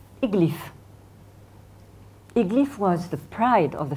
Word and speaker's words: high life: Iglif was the pride of the family. Iglif was high life, pronounced in the French way by my grandfather's family, who were so